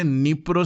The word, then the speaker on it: Dnipro: তো ইউক্রেনের মধ্যে আছে নিপ্রো সিটি, ডিটা সাইলেন্ট থাকে, which is in news due to missile attack, ঠিক আছে।